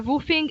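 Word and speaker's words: WWOOFing: Around the end of my stay in Japan, it was summer, and I decided to go on a woofing experience. It's spelled as WWOOF.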